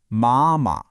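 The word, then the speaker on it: 妈: The first character, ma, is the first tone. That's high and flat. Imagine you're singing a high note and holding it steady. Ma.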